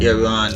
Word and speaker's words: Iran: That would be Iran or Iran, however you choose to pronounce it. It's actually supposed to be pronounced Iran, but...